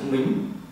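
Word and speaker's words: 名: Chữ này bạn đọc là chữ mính.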